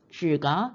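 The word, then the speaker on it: 只: 여기서 부사로서 다만 단지라고 하지만은 우리가 동물의 양사를 사용할 때 어 강아지 한 마리, 고양이 한 마리 말이라는 양사를 쓸 때는 줄 삼성이 일성이 됩니다.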